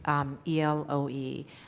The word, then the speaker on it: Eloe: So they go back to Elo, and that's when, am I pronouncing it right? Yes. Eloe.